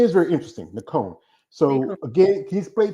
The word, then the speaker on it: Nacone: So it's Nacone, but I will say Nacone.